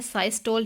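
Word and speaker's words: systole: एक होती है साइस्टोल, ठीक है, कुछ सिस्टोल भी बोलते हैं, कुछ साइस्टोल बोलते हैं, तो हर एक की अपनी प्रोनाउंसिएशन होती है, इस पर कभी किसी को क्रिटिसाइज नहीं करना चाहिए।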